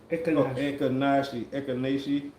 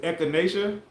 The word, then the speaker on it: echinacea: It's pronounced Ekanashi. Ekanashi. Is it echinacea?